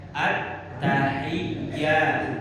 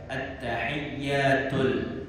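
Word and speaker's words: التحيات: At-tahiyyat. Nah, ada yang baca at-tahiyyat. At-tahiyyat. Ada tuh. Nah, at-tahiyyat. Hilang tasdid 1. Harus tegas.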